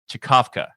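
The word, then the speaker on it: Czkawka: probably butcher this sorry it's spelled c-z-k-a-w-k-a or chikovka that's how you pronounce it sure thanks ryan so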